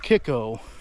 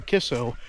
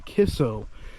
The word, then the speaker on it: KICCO: now as I mentioned before the town of Kiko which or kisso which is actually spelled k i c c o it's actually pronounced K you know as you're saying kisso so the spelling says K I C but